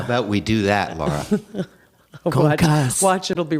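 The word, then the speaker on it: concassé: In kitchens, we say concasse.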